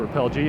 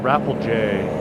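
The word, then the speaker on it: Rapelje: to call it uh well it's not repel g i used to call it repel g and apparently it's called raffle j or pronounce that i'm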